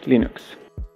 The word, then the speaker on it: Linux: is Linux thals And I pronounce Linux as Linux la licencia bajo la